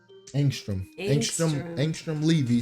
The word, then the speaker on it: Angstrom Levy: Angstrom Levy.